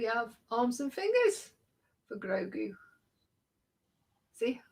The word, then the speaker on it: Grogu: And here we have arms and fingers for Grogu.